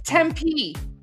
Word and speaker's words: Tempe: I forgot how do you pronounce this. Tempe. It's Tempe.